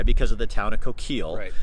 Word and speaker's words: Coquille: where we are today with Coquille that hard sound being Coquille city and the Coquille River and the tribe still maintaining its coke well pronunciation which has some other roots besides just the French interpretation so how many people